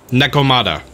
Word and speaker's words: Nekomata: tired to be honest it's pronounced neck o Nekomata okay sorry neck oh this